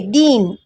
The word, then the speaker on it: दीन: और वही द को दूसरी की मात्रा अगर हमने दिए दीन यानी गरीब, अर्थ में फ़र्क है। बोलते समय हम दिन दिन बोलते, लेकिन उच्चारण में भी फ़र्क है। पहला वाला दिन कहते हैं और दूसरे को हम दीन कहते हैं।